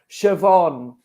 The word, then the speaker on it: Siobhan: not oh my god in irish it is pronounced siobhan right and the reason